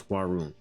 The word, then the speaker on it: Hwaryun: So the way you say your name is basically Hwa and then Rune. So you put that together as HWARYUN.